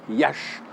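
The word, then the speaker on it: Iași: aujourd'hui en roumanie ayyash il s'écrit et à s y met prononcer yach pourquoi iasi et bien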